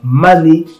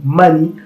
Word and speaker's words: Mali: Delafosse qui relève que les noms Mali et prononcés souvent Mané ou Mani par les gens des Wassoulou Mali par les Soninké ou mal ou mêlé ou Meli par les fleurs on fait donc penser